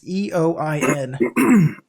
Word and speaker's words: Eoin: Ian Colfer, I think is how you say it. It's Eoin. Ian Colfer? Ian. Yeah, maybe Ian.